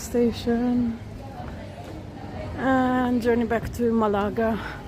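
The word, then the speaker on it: Málaga: and journey back to Malaga, or Malaga. Sorry, that's how you say it.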